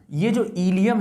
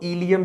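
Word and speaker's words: ileum: एप्रोप्राइटिंग इलियम है ना इसकी स्पेलिंग देखो आई एल ई है एक सेम स्पेलिंग होती है आई एल आई यू एम ये जो होती है ये एक तरीके की बोन होती है ठीक है प्रोनंसिएशन आप जब भी करोगे तो दोनों को इलियम ही आप पढ़ोगे इसको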